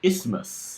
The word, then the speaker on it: isthmus: I believe it's isthmus.